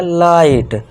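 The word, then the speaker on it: light: अब जी एच को साइलेंट कर दिया। बस टी के लिए ट लिख दिया। तो ये क्या हो गया? लाइट। इस तरह से क्या पढ़ेंगे? फाइट। जी एच साइलेंट।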